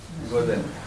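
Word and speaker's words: 午前: এই যে এখানে গোজ, এটার উচ্চারণ হচ্ছে জেন। গোজেন।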